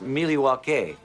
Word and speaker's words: Milwaukee: this Alice Cooper what Milwaukee means actually it's pronounced Milwaukee which is Algonquin for the good land I